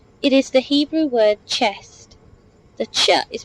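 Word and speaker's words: חסד: the whole prophecy it is the Hebrew word chest the CH is pronounced like the CH in lock C the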